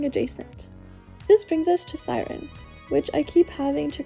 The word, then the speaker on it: SYRN: CERN is pronounced as Siren or sorry, S Y R N is pronounced as Siren.